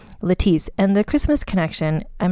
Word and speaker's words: Lettice: her name written out it looks like her name is lettuce because it's spelled l e t t i c e but in fact it is pronounced letis and the Christmas Connection